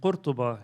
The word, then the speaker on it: Qurtuba: Ibn Rushd was born in 1126 in Qurtuba. You would excuse me for pronouncing it in the Arabic fashion.